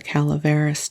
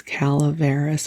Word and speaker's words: Calaveras: very sleepy and rambly I do believe it is Calaveras and I have been mispronouncing it so if that annoys